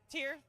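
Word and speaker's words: TYR: Purple with gold okay is it tier or the how do you say it tiar tier okay I don't think it's Tire I'm pretty sure it's tier what I don't think it's TI because that would be the only other thing that I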